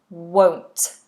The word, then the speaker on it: won't: to pronounce the word won't won't so you have this o sound wo W and then the NT won't I won't I won't